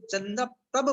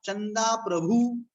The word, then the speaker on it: चंद्रप्रभ: ऐसे चंद्रप्रभु भगवान चंद्रप्रभु आप सही उच्चारण बुला करें बहुत से लोग कहते चंदा चंदा प्रभु भगवान का नाम लेते हैं आप लोग तो चंदा प्रभु नाम नहीं कि चंद्रप्रभ नाम है इसको ध्यान रखना चंद्रप्रभ हर जगह बोलना